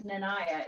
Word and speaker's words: Nanaya: I say, yeah, so my name's Nanaya. It rhymes with papaya because otherwise it's really hard to figure out.